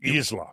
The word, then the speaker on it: Isla: I think it's Isla. Thank you. Isla. Isla. Yep. That makes sense. Mm-hmm. Okay. From now on, for the rest of my life, I'm going to know how to pronounce that word.